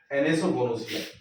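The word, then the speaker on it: anosognosia: इसको कहते हैं दोस्तों एनेसोगोनोसिया। स्पेलिंग अच्छे से लिखना दोस्तों, NANASOGONASIA, ये ठीक है।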